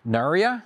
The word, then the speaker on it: Narya: And then something new that was the project, I'm probably going to say this one wrong, Naria, is that correct? That's correct. And so, at least that's the way I pronounce it too.